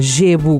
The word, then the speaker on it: gebo: Jebo com G.